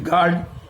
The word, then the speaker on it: guard: GUARD, গার্ড, এখানে your কোনো উচ্চারণ নেই।